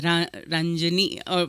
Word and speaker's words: Ranjini: right there was also renjini who was telling me you have to pronounce it you know as Ranjini there's a South Indian